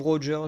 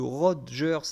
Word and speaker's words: Rogers: le tournoi estce que le Rogers avec le D alors que techniquement c'est juste un son que le g fait tout seul quand tu prononces à l'anglaise Firestar je connais pas